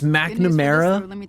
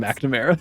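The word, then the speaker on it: McNamara: Uh it's Magnamera. Actually, no. It is spelled McNamera, but everyone calls him Magnamera.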